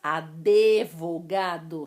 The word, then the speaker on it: advogado: eu pronuncia esse sons advogado só que não existe esse no advogado pneu não existe esse hino